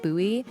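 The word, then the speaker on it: Bohea: of what western consumed some pronounce it buoy it was a corrupted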